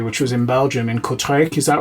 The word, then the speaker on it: Kortrijk: made it to, which was in Belgium, in Kortrijk. Is that right? Is that how you pronounce it?